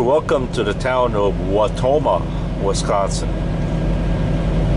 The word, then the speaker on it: Wautoma: to the town of watoma Wisconsin W is spelled w a u t o m a watoma Wisconsin currently traveling on